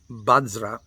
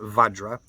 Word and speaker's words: Vajra: Om Bajra, and in the Tibetan tongue, it's Bajra, not Vajra.